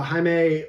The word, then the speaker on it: Jamie: the new characters uh Jamie uh Jaime however you want to say but uh they pronounce it Jamie the announcer um looks